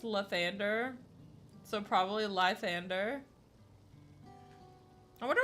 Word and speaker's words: Lathander: The real name Lithander is pronounced Lathander.